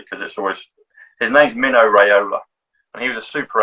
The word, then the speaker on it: Mino Raiola: Mark knows who he is, but there's a football agent, a soccer agent called, I have to always pronounce his name correctly because his name's Mino Raiola, and he was a super agent, and he